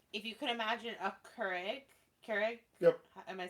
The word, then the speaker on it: Keurig: The Levo machine is kind of like, if you could imagine a Keurig? Yep. Am I saying it right? Yeah, Keurig.